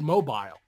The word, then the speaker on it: Mobile: Well, it's spelled mobile. Yeah. But it's Mobile. You know, it's just a regional thing.